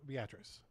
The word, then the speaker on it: Beatrice: picked a small little shack down south of Beatrice.